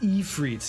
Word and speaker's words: Ifrit: Technically it's pronounced Ifrit. Yeah, but I don't like that. I say Ifrit all the time.